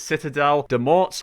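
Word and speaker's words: Citadelle des Morts: That's actually how you pronounce it. Citadel Demort literally will get you all of these critical hit kills for you without actually having to do much at all.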